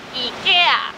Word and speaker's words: イケア: In Japanese, the pronunciation should be イケア.